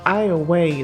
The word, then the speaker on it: Iowa: So that is actually imported from Iowa, Louisiana. Iowa? It's spelled Iowa, but it's pronounced Iowa from a place called Rabideau.